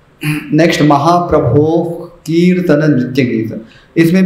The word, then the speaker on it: गीत: महाप्रभो कीर्तन नृत्य गीत, गीत गी लंबा खींचना।